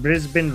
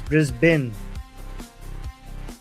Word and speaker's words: Brisbane: So guys, I've been pronouncing Brisbane. Brisbane wrong all this time. It's Brisbane, not Brisbane, then.